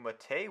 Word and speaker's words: MATE: booted up into entu mate with no problem and yes I am pronouncing it as mate even though there's no accent over to e because that's how the developers want it to be pronounced if you have a